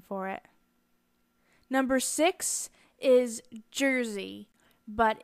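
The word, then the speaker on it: Jerzy: it number six is Jersey but in Polish it it would be pronounced yera and it's a form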